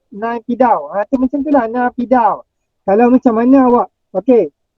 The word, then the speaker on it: Naypyidaw: Okey, ini adalah merupakan Rafiq tanya macam mana nak pronounce Naypyidaw. Macam tu lah, Naypyidaw.